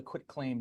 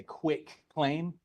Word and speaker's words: quitclaim: It's called the quitclaim deed. Most people mispronounce this. They say quick claim. It's not quick, it's quit claim.